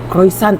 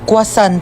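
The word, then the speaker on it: croissant: Croisant daw. Croisant? Ah quasant po.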